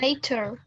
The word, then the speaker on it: nature: How do you pronounce it? Nature.